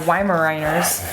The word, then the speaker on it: Weimaraner: says I've been working with my two male wi Mariners on e-collar for a month now and they're doing great I actually pronounced the name right yeah viners viners they